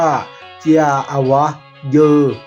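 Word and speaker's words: เจียอวะเยอ: ข้าว นำ กัน เด้อ ภาษา โซ่ เรียก ว่า เจีย อวะ เยอะ เจีย อวะ เยอ เขียน อย่าง ไร ครับ เจีย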